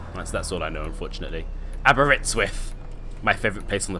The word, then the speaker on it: Aberystwyth: Aberystwyth. That's how you pronounce it.